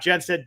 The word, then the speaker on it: Jenstad: spell sound like it spells but that's how it's spelled um i am jenn said j-e-n-s-t-a-d on my last name uh if you